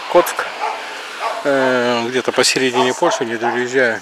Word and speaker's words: Kock: Коцк. Пишется Кок. Нет, он сюда Кок. Петух. Коцк.